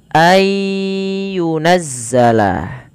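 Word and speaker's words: أن ينزل: Ada lafal ayyunazzala nun mati bertemu dengan huruf ya. Maka apabila ada nun mati bertemu dengan huruf ya atau tanwin bertemu dengan huruf ya. Nah, sebagaimana contoh nun ketika bertemu dengan ya. Dan di sini kita lihat nunnya tidak berharakat. Maka apabila ada nun tidak berharakat bertemu dengan huruf ya, maka nunnya dimasukkan ke huruf ya dan suara nunnya dihilangkan.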